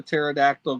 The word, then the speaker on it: pterodactyl: Why Why can't you hear the pterodactyl go into the bathroom? Because the P is silent.